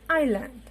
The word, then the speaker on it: island: The silent letter is S here. We are not going to use it in the pronunciation. So it is completely island.